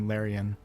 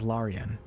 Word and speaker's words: Larian: like I'm partially responsible for saying Larion. Like if you listen to EA, Larry's uh senior comm's director, she says Laurian. I think Sven says Laurian, too. But it's just at this point, I can't start saying Laurian. You know what I mean? Like it would just be it would I would admit be admitting to everybody that I was wrong for the past six years.